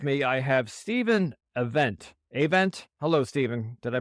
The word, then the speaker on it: Avent: make today with me I have Stephen event Avent hello Stephen did I pronounce that correctly yeah that's good Stephen is